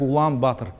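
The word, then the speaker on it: Улаанбаатар: Монгол бычек улаган багатур вот так принято записывать многие из вас знают да произносит это как Улан батер к чему Вот эти Гага в двух случаях да опять-таки По той же самой причине потому что когда-то это По всей видимости про произносила багату сегодня произносится как батер в русском заимствованным в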